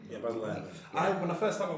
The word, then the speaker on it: Baz Luhrmann: I don't know, is that how you pronounce it? Baz Luhrmann? Yeah, Baz Luhrmann.